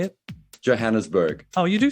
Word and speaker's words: Johannesburg: the hard J how do you say it Johannesburg oh you do say it okay oh I thought it was like Johan spur no no no please don't do that uh